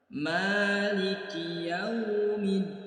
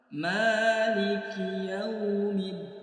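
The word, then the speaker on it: مَالِكِ يَوْمِ الدِّينِ: Di ayat yang keempat, perhatikan di huruf mim ada tanda alif kecil atau fathah berdiri, menandakan bacaannya dibaca panjang 2 harokat. Kesalahan yang sering terjadi, panjangnya itu berlebihan, maka jangan sampai lebih dari 2 harokat, hanya 1 ayunan atau 2 harokat.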